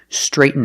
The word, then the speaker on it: straighten: Today we're learning this phrasal verb, straighten out. First, let's talk about pronunciation. Straighten, straighten. We don't say straighten. When you have a T-N, use a stop T, straight, and then fall to the end sound.